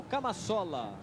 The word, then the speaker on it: Camassola: para a entrada do camassola Essa é a pronúncia correta número 15 camola número